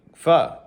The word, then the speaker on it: pho: How do you pronounce this? And she's like, pho.